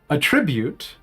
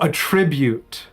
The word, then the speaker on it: attribute: buy the $500 Ari skin Riot released today a tribute pronounced with the accent on the first syllable is